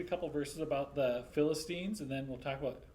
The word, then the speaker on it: Philistines: Philistines. How did we tell you to remember it, Taylor? Christine. Yes.